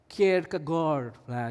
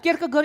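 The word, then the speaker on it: Kierkegaard: Ini bacanya Kirk keg lah. Ini kalau Oh, ini teolog Denmark. Nanti kalau yang jago bahasa Denmark, kalau saya salah ucap nanti koreksi saya ya habis khotbah ya. Nah, Kirk kegor ini punya gini.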